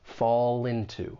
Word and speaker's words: fall into: When you pronounce this phrase, keep in mind linking will often occur. We can link that consonant sound in fall with the beginning vowel sound in into. Fall into, fall into, fall into place.